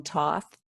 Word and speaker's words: Thoth: I had a teaching actually of that from, I call him Thoth. Some people call Oh, him yes, yes, Toth or yes. Thoth, or I mean, there's so many ways to say his name.